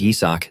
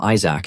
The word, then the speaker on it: Yizak: Even though his name is Yizak, these guys always pronounce it wrong and call him Isaac instead.